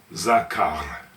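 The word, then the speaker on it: זָכַר: underneath giving us the zah sound in the middle letter is CF giving us a sound and there's a p vow beneath giving us now the last letter is R which is the r sound at the end zakar now compare that with Zama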